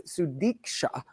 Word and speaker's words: Sudiksha: show uh s konaki sorry I said her name wrong it's sudika um with her friends